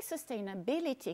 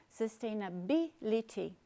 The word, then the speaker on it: sustainability: E em sustainability, que é esse palavrão gigante, a sílaba tônica é bi. Sustainability.